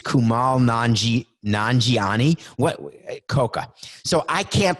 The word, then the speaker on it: Kumail Nanjiani: out on Netflix yesterday called the lovebirds with Kumail Nanjiani who's gone it's Kumail Nanjiani what khoka so I can't pronounce names you know this khoka put it